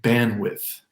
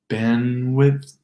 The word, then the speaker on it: bandwidth: And then we get even 2-syllable words like depends, windshield, windmill, handsome, Lindsay, the name Lindsay, and bandwidth, bandwidth. No D in those words.